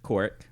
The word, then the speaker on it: Korok: So the locals pronounce it Korok, Oh. or just Kork.